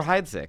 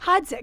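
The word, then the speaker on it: Heidsieck: And is there one that sounds like another one that I love and I jack up the Piper Heidik. Hides.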